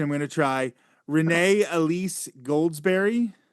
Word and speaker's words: Renee Elise Goldsberry: And I'm going to try the pronunciation. I'm going to try Renee Elise Goldsberry.